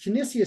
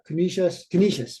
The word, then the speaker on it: Canisius: that I have this kinesia situation or uh uh commission when I say it wrong Canisius right they call it Canisius um so I won